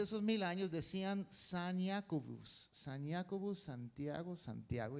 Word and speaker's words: Jacobus: Y en latín se decía Jacobus. And in Latin, it is pronounced Jacobus.